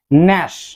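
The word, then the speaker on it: gnash: যখন এন লেটারটি আসবে তখন অবশ্যই জি সাউন্ডটি সাইলেন্ট থাকবে। জি সাউন্ডটি সেক্ষেত্রে আর আমরা করব না। নার্লি। নার্লি অবাধ্য বা জেদি। ন্যাশ।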